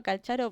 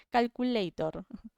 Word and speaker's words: Calcharo: yo le digo Calcharo porque es la forma que yo lo tengo de pronunciar. En español pronunciamos como se escribe, es calcaro. Y algunos le dicen calculator. Mal pronunciado, ¿no? Obviamente. Le dicen como calculador en vez de calcharo.